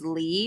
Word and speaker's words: Leigh: My middle name is Lee, but it's spelled Leigh.